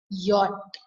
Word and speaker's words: yacht: that students it's not yacht it's yacht it's pronounced is it as yacht and what is yacht yes it's a luxury